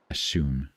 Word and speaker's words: assume: So, so in British English, we tend to put a Y sound before some things. So, uh so assume is one of those.